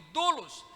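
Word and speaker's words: δοῦλος: Duos diga comigo duros se escreve dolos dolos de u l o s mas se lê duros em grego dulos e duros significa literalmente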